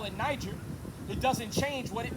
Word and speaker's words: Niger: Now it's spelled N-I-G-E-R. Say Niger. They say Niger, but I want to go to something called a concordance.